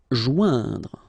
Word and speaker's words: joindre: Joindre. Okay, remember O-I-N together. Ouin, okay. Joindre, joindre.